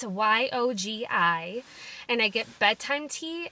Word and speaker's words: Yogi: I think you pronounce it Yogi. It's Yogi.